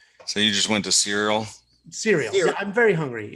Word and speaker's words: Ciryl: Ciryl. There's a Y and an L. I mean, the C is a S instead of a K. This is ridiculous. So you just went to Ciryl?